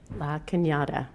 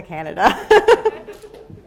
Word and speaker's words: La Cañada: Will you say it correctly? La Cañada. I kept reverting back to Canada.